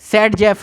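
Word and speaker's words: Zaitsev: देखा था यह Alexander jet save pronounce as ए सेड जफ rule सेड जफ rule उन्होंने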